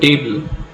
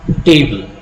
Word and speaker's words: table: When we use the word table, we pronounce it as table, not table.